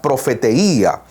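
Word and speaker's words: προφητεία: De hecho, la palabra profecía en griego se pronuncia profeteía, que significa la proclamación de la mente y el consejo de Dios.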